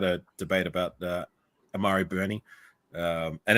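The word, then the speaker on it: Burney: Um he told me it's Bernie because he watches a lot of Florida games. And when I watched the old Florida games, I listening to the commentator pronounced it Bernie. So, I'm going to go with that.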